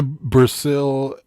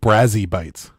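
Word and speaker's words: Brazi Bites: Oh, Brazzy bites. Oh, Brazzy bites. Did I mispronounce it from the beginning? Well, you Probably. said Brazil. Yeah, Because, you Brazzy bites. like add letters and remove them.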